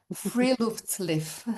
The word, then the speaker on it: Friluftsliv: and I will try to say it right, Friluftsliv.